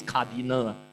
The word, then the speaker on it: cardinal: I have to very careful when I pronounce this cardinal. You know if you sometime if you add a I between the N and the L you know.